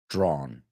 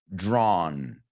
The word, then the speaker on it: drawn: sounds ow or drown drawn they are not homophones great job and let's